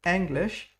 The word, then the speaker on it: Englisch: English would be pronounced like English. Very good. And with the SCH, sh. Wir studierten Englisch an der Oxford Uni.